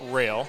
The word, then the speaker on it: Roehl: And just so you know, it's actually pronounced rail.